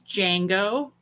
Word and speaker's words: Django: is my helper's name this is Django like Django Unchained the movie or Django Reinhardt the musician so the D is silent if anybody knows what